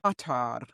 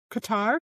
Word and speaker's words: Qatar: Qatar. Qatar. That's not how you say it. I watched video after video after video to try to learn how to say it right, and I still can't say it right.